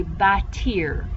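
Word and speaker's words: bâtir: in there all right everybody say by tear that i r sounds like ear like i'm listening with my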